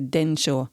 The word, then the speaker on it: Densho: que trata sobre este tema, que se dice Densho. Se escribe D-E-N-S-H-O, Allí podréis encontrar fotografías, podréis encontrar vídeos con testimonios de gente que pasó por los campos.